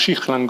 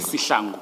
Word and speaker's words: Sihlangu: Is it pronounced Shihlangu or Sihlangu? Sihlangu. Sihlangu. I was several of your experts, not your experts, your officers yesterday were using Shihlangu.